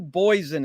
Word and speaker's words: Boysen: our guest today, Boysen. Is that the way to pronounce it? Yeah, in English it is. Otherwise, it's Boysen in Very Danish.